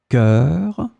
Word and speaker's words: chœur: In this lesson, we will see together two words that are written differently but pronounced the same way. Cœur, cœur.